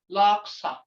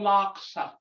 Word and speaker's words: laksa: Like ijo laksa, thako laksa. But okay, look here. That's a liar. Laksa. Laksa. You draw it out. Hear that tone? That means a liar.